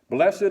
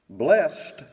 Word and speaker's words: blessed: the book of songs bless it bless it is a noun two syllables blessed is one syllable and it's a verb but either way it